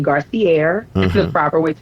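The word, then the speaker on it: Garcierge: My business page is the cigar the business name Garcier is the proper way to pronounce it is G A R C I E R G E.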